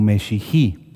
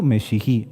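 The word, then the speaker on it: משיחי: Mesiánico en hebreo se pronuncia como Meshihi. Vuelvo a decirlo, mesiánico, Meshihi.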